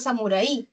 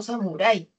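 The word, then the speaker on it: samurái: No dicen yo voy a ser samuraí, sino samurai. Me gusta la película de Samurai, no Samurai. Entonces la mayor fuerza de voz está en la A, es un diptongo, no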